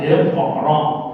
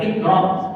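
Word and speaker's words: اقرأ: Di dalam tajwid ada kol-kola, iqra, bukan ikra.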